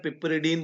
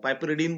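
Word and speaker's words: piperidine: ये आपका आपके पास है, इसको बोलते हैं पिपरिडीन बोलते हैं, पाइपरिडीन बोलते हैं, ठीक है। अलग अलग तरीके से इसको प्रोनाउंसिएशन इसका होता है।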